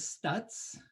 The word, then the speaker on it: Stuetz: on the recording um my last name is stutz and very few people in the world ever